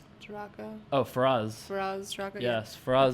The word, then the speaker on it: Faraz: Faza, or how do you say his name? Taraka? Oh, Faraz.